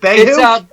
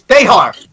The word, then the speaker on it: Behar: Is it Behu? It's Behar. It's Behar. Larry Behar. It's Bea.